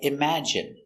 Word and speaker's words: imagine: And you have words like imagine. It has the short I sound. Imagine.